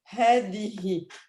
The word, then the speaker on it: هذه: This last letter here, that's the ha. Yeah, with the kasra. So you pronounce this as هذه.